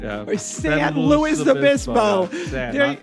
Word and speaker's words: San Luis Obispo: Or San Luis Obispo.